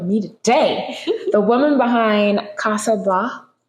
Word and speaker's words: Casa: today the woman behind Kasa Kasa yeah that's how pronounce it I get it on